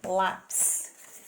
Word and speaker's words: lápis: Lembrando que ele tem aí, ó, o acento agudo para ficar forte.